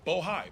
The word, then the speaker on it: Bohai: Alpha, RSTP2 Bravo, Rosemont Seneca Thornton, Rosemont Seneca Bohai. I want to make sure I pronounce it right. Bohai, B-O-H-A-I.